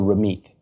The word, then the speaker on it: Ramit: First of all, in Punjabi, the way it's written, it's th so Ramit.